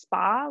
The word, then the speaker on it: SPA: being used called or that's pronounced spa which stands for service planning area you'll see eight different